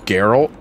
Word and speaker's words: Geralt: you yeah he's raising me real good it's pronounced geralt no let's go I know what I said